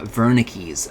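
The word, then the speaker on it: Wernicke's: That is why the V is pronounced like a double or the the W is pronounced like a V.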